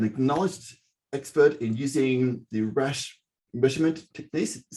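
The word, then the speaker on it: Rasch: is a an acknowledged expert in using the rash measurement techniques is how you pronounce it yes yes it is awesome that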